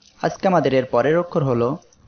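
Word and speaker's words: ح: আজকে আমাদের এর পরের অক্ষর হলো হা। এই অক্ষরে এক আলিফ টান হবে। হা এই অক্ষরের মাখরাজ হলো কণ্ঠনালীর মধ্য হইতে হা উচ্চারিত হয়, অর্থাৎ এই মধ্যখান থেকে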